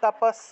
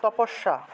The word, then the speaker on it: তপস্যা: হিসেবে উচ্চারণ করা হয় তাহলে তাপস বা তাসসিয়া বা তাপস আমরা বলি না মনে করেন যে তপস্যা দন্তস্য জফলা আকার এক্ষেত্রে দন্তস্য উচ্চারণ হলো স জফলারের পরিবর্তে ইয় আর আকার আ উচ্চারণ হলো তাহলে তাপাস উচ্চারণ হবে ত কস তাপাস তাপাসিয়া এভাবে উচ্চারণটা আসবে তারপরে দেখুন লুপ্ত অ